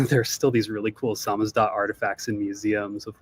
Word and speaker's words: SZDT: It's pronounced Samizdat, which is kind of an inside joke.